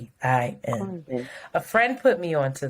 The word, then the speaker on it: Khruangbin: This next artist, I don't know how to pronounce their name. Shanti? Khruangbin. Squat? Khruangbin. It's Khruangbin.